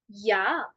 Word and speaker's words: ja: We pronounce J as yacht, right? So therefore it would be yeah.